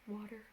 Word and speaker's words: water: fire fire water water like with a d-type sound water not water not water